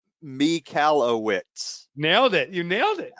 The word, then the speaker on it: Michalowicz: been saying it wrong it's me cala wits know that you nailed